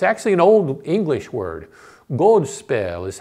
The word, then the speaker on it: godspel: Godspell is how you would pronounce it in old English.